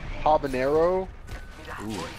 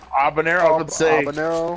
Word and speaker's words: habanero: so yeah Oh jalapeno habanero but it's spelled with a J yeah it's for the white people cuz in Spanish we don't pronounce the H ok so it's a bun it'll habanero yeah I'll burn it